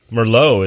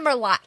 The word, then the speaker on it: Merlot: got all this shadow back here, so it's like Merlot is known for being soft, ripe, and elegant.